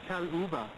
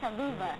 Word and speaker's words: Chaluba: It's called Chaluba. Because I've been calling you Shaluva.